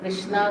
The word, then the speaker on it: Krishna: जैसा आपने कहा हरे कृष्णा कृष्णा कृष्णा हरे हरे, हरे राम राम राम हरे। लेकिन फिर कभी कभी उसके प्रोनाउंसिएशन में हम मिस्टेक कर देते हैं, कृष्णा को कृष्णो कर देते हैं, रामा को रामो कर देते हैं।